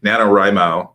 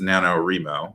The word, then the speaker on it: NaNoWriMo: to explain this so nanowrimo sometimes mispronounced as nanowrimo but it's nanowrimo emphasis on the writing it's an acronym for